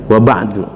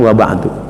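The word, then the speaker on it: وبعد: Ini biasa diucapkan oleh para pujangga, penyair, ya, amma ba'du, atau langsung wa ba'du. Ada yang berkata nggak boleh wa ba'd, nggak boleh, langsung dibaca ujungnya wa ba'du atau amma ba'du, begitu maksudnya.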